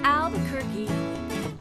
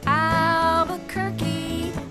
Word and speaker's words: Albuquerque: name zeke and mommy albuquerque it's a word that rhymes with turkey just say the word